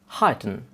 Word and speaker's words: halten: Halten. Halten. And as you can see, L is silent here too.